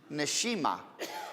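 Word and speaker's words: נשימה: How do you say breathing? Neshima. Neshama, soul, neshima, breathing. It's the same word.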